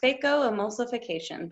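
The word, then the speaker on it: phacoemulsification: also talks about the fake go emulsification machine so that's pronounced fako emulsification but they're just gonna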